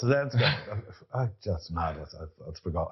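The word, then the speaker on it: Zelenko: Zalinski. Zilinsko. No, hold on. I definitely got his name wrong. I hope it's not Zilinski. No, it's Zilinsko.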